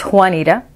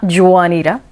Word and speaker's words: Juanita: people pronounce juanita instead of the j they'll say uh juanita like a w it's juanita in spanish it's not juwanida eating fajitas in juarez